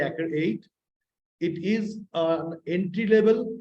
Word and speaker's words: ACCRE-8: this is Accra eight we call or we call again eight sometime so the proper pronunciation will be active eight it is an entry